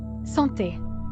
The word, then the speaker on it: Santé: Santé.